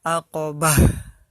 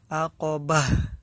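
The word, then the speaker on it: عقبة: aqabah pendek Hai dan disini ada huruf marbutoh dan ini jangan dibaca kalau di wakaf kalau di akhir hayat jangan dibaca maka kita sukun kan aqabah ya jangan lupa Hanya harus terdengar ya aqabah kalau bisa ya seharusnya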